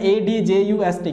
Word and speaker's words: adjust: So now D here is the silent. So now adjust.